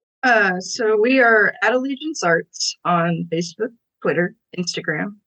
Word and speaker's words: Allegiance Arts: Arts am I saying it wrong no it's Allegiance Arts yeah you're right on it you know what